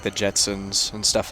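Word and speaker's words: Gjetson: And we got a Austin Jetson, spelled G-J-S-T-S-O-N, pronounced Jetson.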